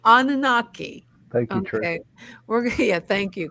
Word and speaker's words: Anunnaki: to talk about Trish how do you say nananaki Anunnaki Anunnaki thank you yeah thank you because you know me with my pronunciations um yes we're going to talk about